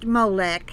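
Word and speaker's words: Moloch: sacrificing their children to molec it's pronounced molek he puts in parentheses but it's spelled m-o-l-o-c-h societies that fail to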